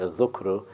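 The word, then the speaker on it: ذكر: Dhikr, or it's actually pronounced dhukru, is to recall what you stored or what you had held in your memory.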